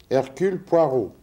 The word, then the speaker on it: Hercule Poirot: You must pucker your lips as though about to bestow a kiss.